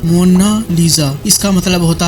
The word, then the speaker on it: Mona Lisa: लिखी जा चुकी हैं मोनालिसा को इंग्लिश में मोनालिसा कहा जाता है बल्कि इसका सही स्पेलिंग मोना लीजा इसका मतलब होता है